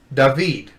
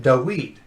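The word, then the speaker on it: דָּוִד: the vav okay david if they were going to say with the was sound it would be deweed okay and the some of these five communities say david and stay in instead of saying dawid yeah so very you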